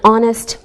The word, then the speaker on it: honest: sounds like a vowel sound same with an honest man who don't pronounce the H we say a university because